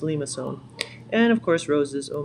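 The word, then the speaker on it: limaçon: to say a lot lemma I don't know what how people pronounce all sorts of different ways but it's actually we must so leave and so so don't this one's pronounced Lima sewn and of course roses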